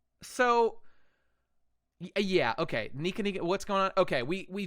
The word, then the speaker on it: Nika: Pronounced Nika.